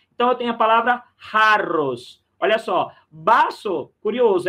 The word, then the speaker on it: jarros: Lembra a pronúncia do J, né? Jarros.